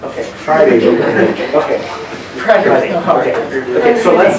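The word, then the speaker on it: Hriday: The H is silent. Okay. Friday.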